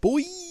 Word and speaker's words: bois: It's spelled BOIS. So that's why I said boys. Yeah, that's right. If you would have put an E, I would have said boysy.